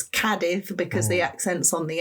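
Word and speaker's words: Cádiz: So, Kadiv, the accent is on the A. People normally say kadis, but it's not. It's kadith because the accent's on the a.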